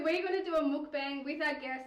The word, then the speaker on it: mukbang: So what we're going to do, it is kind of pronounced mukbang, muki, Bang. bangi.